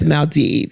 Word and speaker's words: Maldives: I say it right is it Maldives not bees yes Maldives that's awesome all right